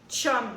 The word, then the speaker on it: chum: On l'écrit de cette manière-là, mais ça se prononce chum, ça vient de l'anglais.